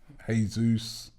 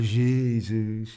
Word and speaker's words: Jesus: Actually, some people say Jesus, some people say Jesus. It's actually Jesus. That is what a Brazilian guy told me, that in Brazil it is pronounced Jesus.